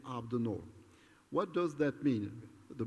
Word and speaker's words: Abdennour: name my name is I pronounce it Arabic abnormal I am called Abdi new and sometimes Abe but my name is AB the norm what does that mean